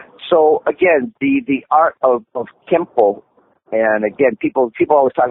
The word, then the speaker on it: Kenpo: No, when you place it together, the syntax of the two characters changed the sound of the N from Ken into an M sound, so Kenpo, and that's the Japanese pronunciation.